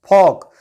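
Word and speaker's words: folk: फॉक word में भी ओ के बाद एल आया है और एल साइलेंट होगा। इस वर्ड को फॉल्क नहीं पढ़ते हैं, इसको पढ़ते हैं फॉक, क्योंकि ओ के बाद जो एल आया है वह साइलेंट होता है, उसको नहीं पढ़ा जाता है।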